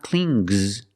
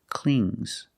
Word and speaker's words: clings: hold on to clean if I change it with an S I hear clings clings it's a soft good not clings but clings example the baby the